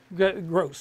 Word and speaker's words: Gross: The best thing is, if you watched the games last week in Alabama, and Gabe Gross, he pronounced with the S, Gabe Gross from Auburn, was one doing a color comment, and he was commenting about how great it was.